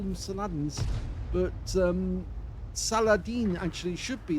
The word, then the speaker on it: Saladin: The British used to call them Saladins, but Saladin actually should be the correct pronunciation, because after all it was named after the Muslim warrior, the warlord, who actually brought a